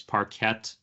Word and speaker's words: Parquet: known as Parquet files, spelled Parquet, but pronounced Parquet. It's Parquet. Some people call it Parquet.